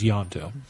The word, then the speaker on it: Ianto: to throw extra letters when I first saw Torchwood I thought it was yonto with a Y I thought it was too I would agree with that's how they always said it was yanto yeah no poor but